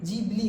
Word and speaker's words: Ghibli: कर रहा है लेकिन लोग इसका उच्चारण गलत कर रहे हैं य गबली नहीं जीबली होता है लेकिन यह कोई बड़ा